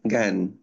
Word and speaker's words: জ্ঞান: সামনে চলে আসলে তখন আর ওই ডাবল জির মত উচ্চারণ হবে না। হ্যাঁ। তখন একটা জির উচ্চারণ হবে মনে করো। জ্ঞান তখন কি উচ্চারণ হবে? জ্ঞান। ওকে।